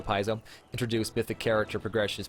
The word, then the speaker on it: Paizo: main feature of this games and mythic paths Paizo introduced I always say it wrong paisa Paizo introduced mythic character progression is basically at this